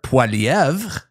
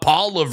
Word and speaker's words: Poilievre: It's Pierre Poilievre, not Poilievre or whatever you guys say, but...